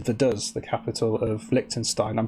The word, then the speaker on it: Vaduz: But the way I would say it is Vaduz, the capital of Liechtenstein.